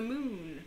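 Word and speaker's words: Mun: like similarities so you can go to the moon which is spelled m-u-n or you can go to minmus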